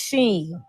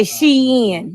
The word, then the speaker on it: Shein: I just wish she learned how to pronounce Sheen. She say Shein.